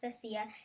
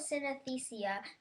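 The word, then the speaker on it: synesthesia: confusion of Senses footnote if you want to know how to pronounce cesia it sounds like an anesthesia but with sin at the beginning I don't know how to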